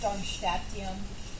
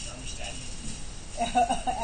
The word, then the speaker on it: Darmstadtium: Or 110 is Darmstadtium. Yeah, you're pronouncing that wrong. It's actually Darmstadtium.